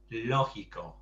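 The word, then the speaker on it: lógico: uh yeah because it's because the g is followed by an eye it's a soft g so it's logico and the stress is on the up so yeah it's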